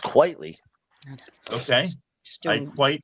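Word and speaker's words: Quitely: Great Frank Quietly art. Really captures you. I believe it's pronounced quietly.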